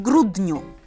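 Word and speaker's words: grudniu: с вами в декабре обратите внимание первая буква у тут читается очень четко у как у а дальше n и u не в гру дню так далее это белка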